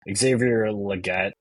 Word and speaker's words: Xavier Legette: church um but uh moving on from peol Xavier Legette right that's how you say his name um